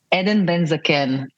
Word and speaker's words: Eden Ben Zaken: Eden Ben Zaken. Everything in the Hebrew language is just like make it flat and dry.